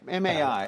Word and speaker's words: MAI: pronounce that correctly? MAI. MAI.